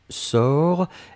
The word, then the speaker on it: sors: première personne du présent c'est je sors s o r s on ne prononce pas le s p on doit quand même l'écrire futur simple de l'indicatif